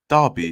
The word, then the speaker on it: Derby: two languages but anyway um so he said Darby has a claimed to be one of the birthplaces of the Industrial Revolution 1820 in 1840 the Derby Sho pronounced Derby is also called remembered became aot in the